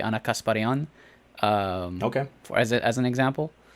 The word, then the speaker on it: Ana Kasparian: armenian just in general so like anna kasparian would be ana kasparian um okay as an